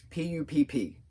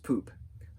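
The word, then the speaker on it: Pupp: go to the hotel p-u-p-p right she says it as pup but it's pronounced poop the hotel poop in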